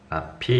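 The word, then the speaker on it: ~p: 이거 물결이 아니라 낫이야. 낫이라고 발음한다. 낫피, 이렇게 밑줄 그어놓으세요.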